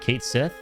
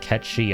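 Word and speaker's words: Cait Sith: was vocal about how it's not what it says in the tent. is not Kate Sith because the the gaike pronunciation is something slightly different. It's like Ketchi, I think.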